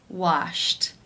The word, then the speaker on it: washed: In the infinitive, the final sound of the verb is p, which is unvoiced. Therefore, it is case 1, and the ed is pronounced as a t.